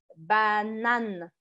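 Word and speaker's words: banane: é a penúltima tá banana banana em francês é com e no final Então vamos por aqui banana banana banana tá vendo a sílaba forte essa aqui Oi gente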